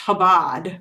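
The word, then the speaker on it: Chabad: It's pronounced Habad just like um him viceman instead of chime vice. Yeah. Okay. It's the C is silent.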